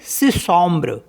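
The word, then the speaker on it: six: आई एक्स सिस Somer तो यहां पर इसको पढ़ेंगे सिसम सिसम एस नहीं पढ़ेंगे लास्ट में सिसम पढ़ेंगे केवल एक्स को साइलेंट कर देंगे क्योंकि यह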